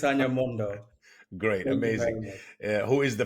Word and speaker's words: Mondoh: we're delighted to have our guest Brian s Mondo did I pronounce it right yes you did ran s Mondo great amazing who is the founder and CEO